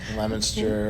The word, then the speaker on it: Leominster: Okay, and you guys would say near Leominster, but it looks like Leominster if you're from Indiana, like me. There's some unique names around here. You got to practice them. Leominster.